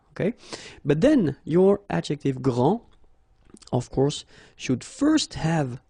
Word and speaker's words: grand: You don't pronounce the final D, you don't, the D here, and you don't pronounce the final S. Okay, so grand, and then same thing here, grand.